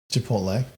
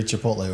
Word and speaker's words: Chipotle: Chipotle.